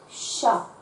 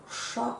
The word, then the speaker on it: chat: Il y a donc un T que l'on va retrouver à la fin du mot chat au masculin, mais que nous n'entendrons pas en français.